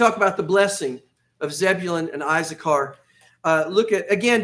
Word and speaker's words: Zebulun: All my life, I've called it Zebulun. But the actual pronunciation is Zebulun.